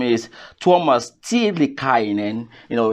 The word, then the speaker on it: Tuomas Tiilikainen: And his name is Tuomas Tiilikainen. You know, it's a Finnish name. I hope I pronounce it well. Yeah, that was actually perfect. Yeah. Well done, well done. Tiilikainen.